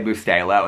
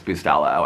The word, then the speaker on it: Bustelo: I'll be like out somewhere, and I'll be like, "Do you have Cafe Bustelo?" And then they'll be they'll be like, "It's Bustelo."